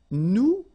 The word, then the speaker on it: nous: Okay, and then for nous, it will be, so if you remember correctly, so final S is not pronounced here.